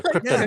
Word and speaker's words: Krypton: You say it like Brando. Brando does. Yeah. Krypton. Yeah. Like, That's the correct pronunciation.